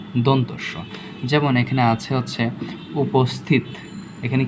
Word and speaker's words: উপস্থিত: এখানে দেখতে পাচ্ছি যে এইটাকে যদি আমরা ভাঙি, এটাকে আমরা যদি একটু উচ্চারণ করি, উপস্থিত, দন্তস্বরের সাথে কি যুক্ত আছে? দন্তস্বরের সাথে কি যুক্ত আছে? থ যুক্ত আছে, তাই কি হবে? দন্তস্বই হবে। ওকে, এই যে উপস্থিত, পয়ের নিচে ও লুকিয়ে আছে, তাই কি ওকার হয়েছে।